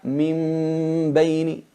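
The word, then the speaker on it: من بين: Se pronuncia min beini, la transformamos en una mim, pero con gunna, con disimulación con gunna,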